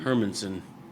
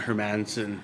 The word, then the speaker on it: Hermanson: How do you say Hermanson? Hermanson. Yeah. Not Hermanson.